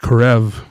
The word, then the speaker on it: Horeb: it's desert HB desert I think it's actually pronounced corev in Hebrew I'll take your word